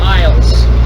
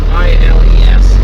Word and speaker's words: Iles: actually I learned that his name is pronounced Iles. I-L-E-S, Iles.